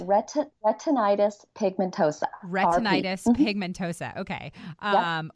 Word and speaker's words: retinitis pigmentosa: It's retinitis pigmentosa.